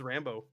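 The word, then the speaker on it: Rambeau: Is it I always just say Rambo. Rambo. I'm sure I'm saying it wrong. Nope. You are correct. It is Rambo.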